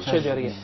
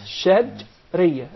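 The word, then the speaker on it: شجرية: The three letters are put together in one group, which is called Shajriya. not Shajriya. Shajriya. Remember, Shajriya.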